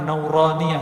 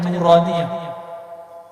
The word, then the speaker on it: nuraniah: nuraniah makanya ribat itu kita kasih nama nauraniah itu bacanya nuraniah huruf-huruf cahaya dan dulu